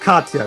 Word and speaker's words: Katia: __ ] sake job it's pronounced Katya this is hard okay